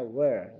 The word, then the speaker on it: were: Ya, bacanya were, bukan where tapi were, gitu ya.